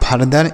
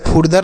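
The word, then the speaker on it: further: ई आर को दर यह लिखा है फरदर इसे फुरदर नहीं पढ़ेंगे फरदर पढ़ेंगे ठीक है? भले ही यू लिखा है लेकिन यहां पर यू का उच्चारण अ होगा।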